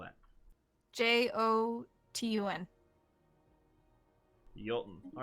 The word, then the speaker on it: Jotun: Uh Jotun. Okay, how do you pronounce that or how do you spell that? J O T U N.